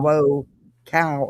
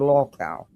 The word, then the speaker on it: lolcow: But this is Jonesin, and apparently she's upset because Nonsense did a live and is not pronouncing LOLCOW right. She's saying low cow instead of LOLCOW.